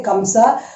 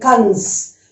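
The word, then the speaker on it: कंस: But in Hindi we don't say Kamsa, or Kams. We don't say, we say Kans. Okay, Kans. Remember, it is Kans. N sound. It is not M sound, it is N sound. But in English we write Kamsa, but it is Kans in Hindi.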